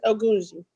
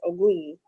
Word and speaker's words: Ogunji: it's Ogunji, but when Ogunji. Africans say it, it's Ogunyi, but Ogunji.